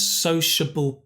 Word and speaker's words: sociable: And this is the difficult one. Sociable. Sociable. But society. Society. Nice one.